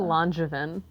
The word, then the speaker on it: Langevin: Langevin or Langevin? Neither. Nobody ever gets it. Drama. It's Langevin.